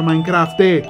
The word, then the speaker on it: Minecraft: Si pronuncia Minecraft.